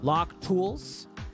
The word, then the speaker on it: LACHHH Tools: This is how you spell it: LACHHH Tools, Lock Tools.